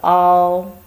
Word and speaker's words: 凹: This character pronunciation is all. You can see from the shape. Here is a hollow. Actually, it's a place lower than the level around it. It's a concave. 凹横折折.